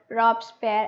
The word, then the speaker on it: Robespierre: तो Maximilian, Maximilian रॉबस्पेयर or Robespierre, as you people can pronounce Robespierre भी आप इसे कह सकते हैं,